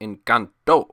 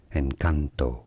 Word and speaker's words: Encanto: Encanto. Stress on the second syllable. Encanto. In Spanish and also in English. Encanto.